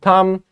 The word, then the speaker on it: thumb: the g is silent in thumb B is a silent letter and in sign g